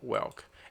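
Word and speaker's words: whelk: this this animal here let's let's learn the pronunciation of this animal listen with me Wilk okay so this one we call Welk and this Welk is food for octopus okay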